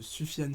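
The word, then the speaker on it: Sufjan: l'album csn shon de soufiane stevens que c'est parce c'est comme ça qu'on prononce donc son huitième album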